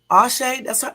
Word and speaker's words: Asha: It's Asha because they got to pronounce up here AY hyphen SHUH.